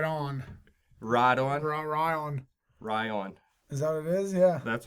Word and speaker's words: Ryon: Healy how about that did you ever see the name Ryan spelt with an O instead of an a no how do you feel about that right on righto and run Ryan Ryan is our vizia